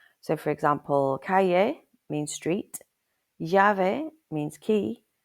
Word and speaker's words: calle: With English pronunciation, a double L usually sounds like an English Y. For example, the word spelled C AL E is pronounced as cay.